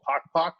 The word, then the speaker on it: Pok Pok: One of my favorites is a restaurant called Pok Pok, if you like chicken wings. How do you spell that?